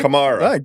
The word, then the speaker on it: Kamara: Kamara. I like when you called him Camera, though. I'm going to keep up. Because you had the first malapropism of the pod. You had the first mispronunciation.